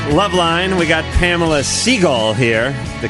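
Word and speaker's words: Segall: we're back love line we got pamela seagull here the correct jewish pronunciation of her name you can see her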